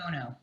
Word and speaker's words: Bono: Edward de Bono, as in U2, Bono. Oh, I didn't realize that. Yeah. Not like Bono for Me Too. The last name is spelled B-O-N.